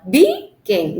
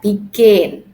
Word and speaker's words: begin: give you another example begin we have two syllable B again no but begin okay remember when a